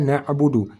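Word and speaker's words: نعبد: ataupun huruf Ain mati cara baca huruf Ain kita sudah belajar tadi di tengah kerongkongan nabudu kalau belum bisa langsung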